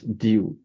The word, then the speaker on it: du: The word DU, how do you pronounce DU again? That's due.